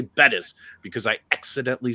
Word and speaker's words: Bettis: uh Jerome buttis and because I didn't say Bettis because I accidentally said buddus some guy was in my comments it's pronounced Buddhist do you even watch football [